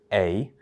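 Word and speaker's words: Aedh: So this poem is written in the voice of A. It's an Irish name. It's spelt A-E-D-H, but it's pronounced A.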